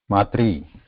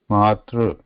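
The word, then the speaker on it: मातृ: They just pronounce it as 3 only. Matri, Pitri, which is not correct.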